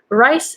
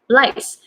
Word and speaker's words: rice: So that's how I was pronouncing rice. Rice is, rice, something that you eat, right? Staple food in Japan or in Asia. So it's rice with R-I-C-E, rice. But I was pronouncing it as lice, and I made people